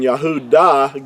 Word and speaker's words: Yahudah: It's just pronounced a little differently if it's at the end of a word. It really actually has the ah sound.